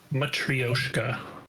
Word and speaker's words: Matryoshka: Matryoshka, apparently. That's how it's pronounced.